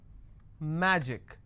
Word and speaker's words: magic: will stress on tra Magic I will stress on my picnic I will stress